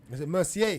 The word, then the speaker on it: Mercier: sorry sorry Olivia uh Mar Merc mer Mercier Mercier that's how you say that's how you pronounced it he's been he's been sorry sorry